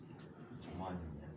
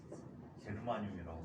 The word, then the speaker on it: 저마늄: 저마늄이야. 옛날에 이게 게르마늄이지. 게르마늄이라고 불렀었어. 네, 이름이 저마늄과 사용어식으로 바뀔 때에 1992년도에 자, 그래서 이렇게 나타나는 녀석이 바로 순수한 반도체이다.